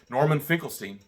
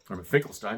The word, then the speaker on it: Norman Finkelstein: Well, you know, Normal Finkelestein, thank God for Normal Norman Finkelestein, Norman Finkelstein, depending on the way you want to pronounce it.